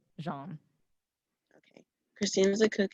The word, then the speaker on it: Jean: miss julie christine and is it pronounced john or like actually gene it's it's sort of in like france right so he's jean but you can pronounce it jean okay christine is a